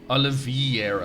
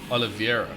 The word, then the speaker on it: Oliveira: and for some reason I read it as Oliveira, like I-E, not E-I. Don't know. No idea. Like, I don't even know anyone called Oliveira. I don't know. So it's Oliveira.